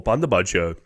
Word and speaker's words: Bundibugyo: I looked up the pronunciation before. Bundibugyo virus.